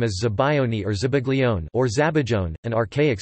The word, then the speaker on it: zabaglione: Zabaione, Italian pronunciation, Zabaione, or Zabaglione, Zabaione, is an Italian dessert, or sometimes a